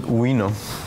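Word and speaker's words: wino: particle it's called the it's pronounce it wio other pronunciations don't look very nice and um the Z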